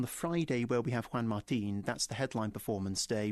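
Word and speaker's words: Juan Martín: I said Juan. I didn't call him John, but then I said Martin. It turns out it's Juan Martin. Martin, That's yes. how I should be pronouncing it.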